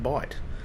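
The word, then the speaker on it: Bight: this bit down here b i g HT that's not incorrect folks he this is the educational element of the uh of the video I do occasionally throw in some learning BHT is correct is valid in this context um those of you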